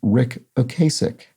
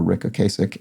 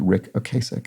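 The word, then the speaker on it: Ric Ocasek: points out while i'm here the uh it's pronounced rick ocasic so uh that is referring to rick okasek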